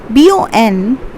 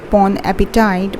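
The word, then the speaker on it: bon appétit: The third one, BONAPPETIT. It might sound you as bon appetit, but it's not. It's pronounced as bon appetit.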